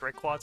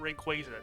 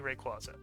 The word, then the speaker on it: Rayquaza: And yes, that's how it's pronounced, Rayquaza. It's not Rayquaza. Don't let the official Pokemon company tell you how to pronounce it. It's definitely Rayquaza.